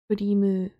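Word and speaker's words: クリーム: It is a can of melon Kurimu soda. I pronounce it like that because I'm reading Japanese.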